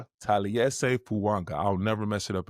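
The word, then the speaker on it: Taliese Fuaga: Can you pronounce the right tackle's name for me? I always butcher it. Tales Fanga. Tales Fuanga.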